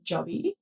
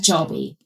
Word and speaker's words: jobby: Jobby. But like you guys, I don't know, Dave's like, oh, you say it so quickly, like quickly and cute. I think you guys sort of drag out the O, like say it again.